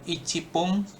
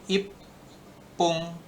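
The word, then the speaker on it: 一分: Jadi kalau bukan ichipung tapi ipung, ropung, terus hapung, nah, jupung, jam 10 jupung gitu.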